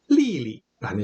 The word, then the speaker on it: 丽丽: 이름에서 똑같은 글자를 연달아서 쓰는 경우 두 번째 글자는 약하게 경성으로 발음합니다. 리, 메리의 리 원래 제4성이에요. 그래서 리라고 읽는 게 아니라 리리라는 식으로 두 번째 글자를 약하게 읽는다라는 거 알아두세요.